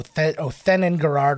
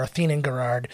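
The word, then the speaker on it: Othenin-Girard: rating oh yeah okay so I mispronounced her name earlier it's domini o oen and Gard or oen and Gard uh she was the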